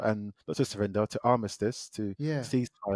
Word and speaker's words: Armistice: Alliance uh like a ceasefire and that's where armistad uh I almost did so how do you say it again I'll miss this Armistice yeah armisticex is what's sort of created from